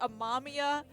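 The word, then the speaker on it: Amamiya: anime in two days the way they pronounce wren's last name in the anime in the dub like they did it a mamia and i'm just like it's ama mia and so now i'm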